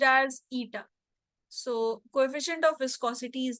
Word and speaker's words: eta: This symbol is actually pronounced as eta.